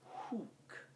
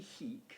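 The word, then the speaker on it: huc: say to come here i would say wayney hook okay not wayney heek that wouldn't make any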